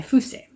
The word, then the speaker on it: Fuse: got reincarnated by a slime vol 2 by fusee and i figured out that's how you pronounce his name this is a series about